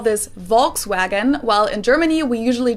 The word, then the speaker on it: Volkswagen: pronounced as f's and the w's are pronounced as v's which is so weird